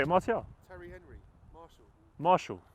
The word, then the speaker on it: Martial: Martial? Terry Henry, Marshall. No, it's Martial. It's not Marshall.